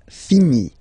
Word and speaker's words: finis: Remember, final S is not pronounced. Je finis, okay? Tu finis, so I-S as well, like we had for je. So same way to pronounce it as well. You don't pronounce the final S.